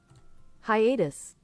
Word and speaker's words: hiatus: guys can hear this here we go ready hiatus hiatus okay we're fine Hiatus I was saying